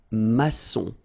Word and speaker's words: maçon: And it just means that you will pronounce this C as S, okay? So that's the reason why. It's un maçon.